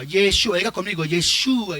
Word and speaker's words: Yeshua: preocupe por otras cosas que la pronunciación lo que tiene que decir yeshua yeshua diga conmigo yeshua y